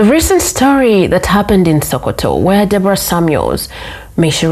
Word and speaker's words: Sokoto: know what recently happened in Nigeria specifically in sakoto sakoto am I pronouncing it right Soo that's that's the pronunciation